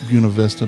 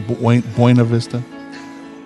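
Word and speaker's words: Buena Vista: all tucked away in buav Vista not buav Vista buav Vista get hungry right way to say it yeah that's the proper way uh get hungry order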